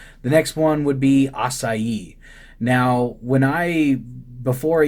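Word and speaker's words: açaí: went to Brazil and I learned that it's pronounced acai and that it's just like frozen fruit from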